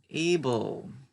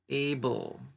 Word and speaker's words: able: And now the column on the right, able, able. All of these words and almost all of them with this L-E, and the E is silent.